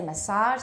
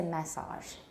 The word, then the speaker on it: massage: plateau they say plateau they don't say massage they say massage so in british english they don't follow this rule of stress on the final syllable they usually stress it toward the beginning in british so here